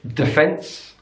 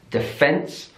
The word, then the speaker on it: defence: cup on the first another stress difference in British English defense defense so it's on the second syllable defence in American English defense defense so it's on the first syllable and that D is really pronounced defense so British English defense American English defence in British English garage